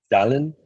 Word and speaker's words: salen: Salen. How you Sí. spell it? Like Salem, the town in the United States.